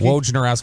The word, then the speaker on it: Wojnarowski: Wojnarowski. I always want to put an R before the J, like Wojnarowski.